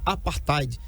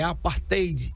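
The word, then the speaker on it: apartheid: Depois você procura aí, deve tá lá apartide, não se escreve assim, é apartade, tá? T H E D, tá bom?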